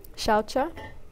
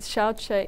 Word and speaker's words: shaucha: Things like shaucha. So sometimes when it's an SA, it depends on Sanskrit, it's pronounced SH. So shavasana that's spelt SA is shavasana with a sh sound.